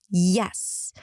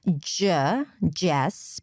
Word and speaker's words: yes: Sometimes it's replaced with jess, but that's a different conversation.